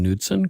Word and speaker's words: Knudsen: And you pronounce your last name Knudsen, correct? Knudsen, actually. Knudsen. Yeah, it's Viking. It's Norwegian, so you always pronounce the K.